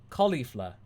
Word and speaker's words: Caulifla: Masako, do you know how to pronounce Caulifla? Here's a hint. Cauliflower. Caulifla.